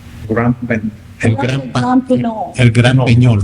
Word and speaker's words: El Gran Peñol: El Gran Peñol. Round. Probably that's You're it. supposed to have a tail on top of it.